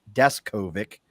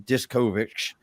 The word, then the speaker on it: Deskovic: him one thing and now I know it's descovic and I used to call him discovic and all kinds of